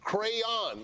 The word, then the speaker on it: crayon: Marcus isn't Akbar right there's a y in the word Y and an O the cray on like cray so like how do you pronounce the company that is famous for making crayons Crayola Crayola right right like well that should end the debate you say the hell